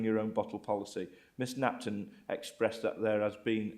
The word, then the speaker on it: Napton: Have I pronounced that right, by the way? Napton, yeah.